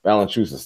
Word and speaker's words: Valanciunas: Oh God, I can't pronounce his damn name. Valanciunas. Valanciunas. Valanciunas.